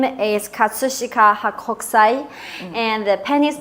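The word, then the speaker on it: 葛飾北斎: So would you mind teaching us the correct pronunciation of the painting and artist? Yeah, the Japanese artist's name is Katsushika Hakokusai, and the painting's name is Kanagawa Okinami Ura.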